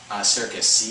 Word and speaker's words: Serkis: Andy Serkis, or Circus? Am I saying it right? My brain just went numb. Circus, Circus.